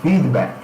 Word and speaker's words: feedback: Mas como a língua inglesa é muito consonantal, a forma correta de pronunciar é feedback, certo?